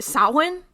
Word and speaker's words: Samhain: This is actually pronounced like Samhain.